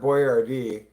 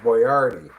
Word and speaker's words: Boyardee: to spell it phonetically and it still got mispronounced. It It's not Boyardee like I think it's Boyardi. Boyardi. Yeah. Like the actual guy's name was not Boyardee. It was Boyardi.